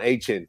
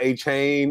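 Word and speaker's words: Achane: his highest level um Devon Ain right not it's not aan it's it's it's pronounced a little bit different now um he had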